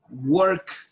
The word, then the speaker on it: worked: y en el pasado worked el presente en pasado le agregas una t después de decir world